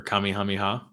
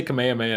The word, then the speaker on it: Kamehameha: Broly oh yeah dude with the the Kamehameha wave or Kami hamiha I say Kamehameha now because uh once you've been to Hawaii you know you've been saying it wrong your whole life I remember I went